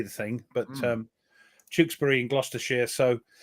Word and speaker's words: Tewkesbury: Yes, we had to educate a few people how to say the thing, but Tewkesbury in Gloucestershire.